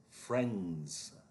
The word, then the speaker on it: friends: Friends. That is Z, the zebra sound.